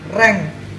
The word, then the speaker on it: range: lagi reng ya slank range rektur ane bacanya adalah reng reng itu nah adalah